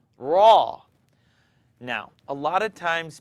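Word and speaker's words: ر: not do this raw don't use your lips to pronounce raw raw now a lot of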